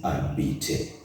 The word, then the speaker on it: habiter: Now, I know you're wondering why I'm saying habiter, yet you can see an H at the beginning. In French, H is silent. So that H is silent and we say habiter.